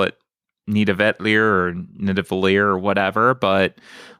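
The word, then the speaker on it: Nidavellir: I got Gift of Tulips played, Nita Vetlier, which I was always pronouncing it Nidavalier, but apparently Nita Vetlier is the actual pronunciation, of the word.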